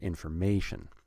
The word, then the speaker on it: information: So you have to put stress on the word information to get information about our strings. Information, 4 syllables, we're going to put stress on the third syllable.